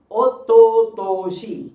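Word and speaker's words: おととし: Ototoshi. So how many syllables? O-to-to-shi.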